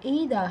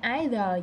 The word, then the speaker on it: either: Chữ này đọc là either hay either gì đó, hai kiểu đọc, nhưng mà mình hay đọc either.